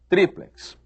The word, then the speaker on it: triplex: Eles ensinam que quiçá quer dizer talvez, ensinam que a pronúncia correta é látex e ensinam que a pronúncia correta é duplex, triplex.